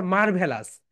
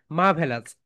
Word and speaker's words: marvelous: আমরা বাংলাদেশে এটাকে বলে থাকি, এটাকে বলি হচ্ছে মারভেলাস। সো দ্যাটস রং, এটা রাইট প্রোনাউন্সিয়েশন ইজ মাভেলাস। সবাই বলে ফেলো মাই ডিয়ার স্টুডেন্টস, মা ভে লাস। How many syllable? Three syllable. ইটস a trisyllabic word, it's a trisyllabic word.